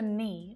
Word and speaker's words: knee: with, but there are several common English words that have a silent letter K. And notice that it always happens before an N.